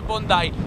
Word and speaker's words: Bondi: siamo a bondai beach che scrive Bondi Bondi come il ministro però si legge bondai è una spiaggia immensa